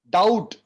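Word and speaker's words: doubt: भी will be silent डाउट डीओएम बीटी भी silent है डोंट नो थे करेक्ट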